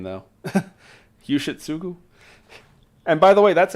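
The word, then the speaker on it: Yoshitsugu: Yushitsugu. And by the way, that's actually how it's pronounced.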